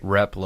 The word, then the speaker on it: Replogle: Replogle.